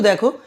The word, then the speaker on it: the: আবার এদিকেও দেখো একটা নিয়ম, এইচ লেটারটি যখন অ বা আয়ের মতো উচ্চারণ হয়, মানে এইচ তো কনসোনেন্ট, বাট তার